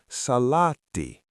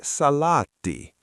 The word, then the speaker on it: Salaatti: The word is Salaatti. Sarah, try to say Salaatti. Remember: Stress the first syllable, and every 'A' is an .